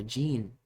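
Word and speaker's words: jinn: genie not with a G because that's how they spell it in English language but genie or gin which is in the Arabic culture or the Islamic culture which is these beings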